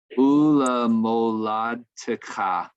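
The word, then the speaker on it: וּמוֹלַדְתְּךָ: The second shava under the tav is vocal, so it's ula moladtecha. So t, ladtecha. So after the tav, not the dalet. Yes, the first shava under the dalet is silent, lad. Yeah. And then the second one, anytime you have two shavas in a row, the first one's silent, the second one's vocal.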